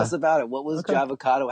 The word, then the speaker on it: Jahvocado: It's not. Although now it could be Java, because I'm a coffee drinker, but it's not Java. It's Jah as in Rastafari, as in J-A-H.